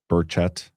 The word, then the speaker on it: Burchett: John, say his last name like a Southerner, which is correctly.